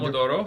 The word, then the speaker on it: Pomodoro: How is it – how do you pronounce it? Thomas: Pomodoro.